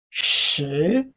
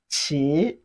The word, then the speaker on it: 十: And lastly, shi. Shi. Meaning word 10. Shi. Not pronounced as qi. Qi, what we have there is sh sound, sh, with a rising tone.